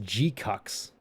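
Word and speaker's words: GQuuuuuuX: Their show is pronounced G-cucks.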